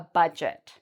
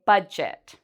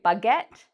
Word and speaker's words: budget: we say this word we don't really pronounce the d sound and the g becomes a j so we say budget i hear many people say bugget that's not how we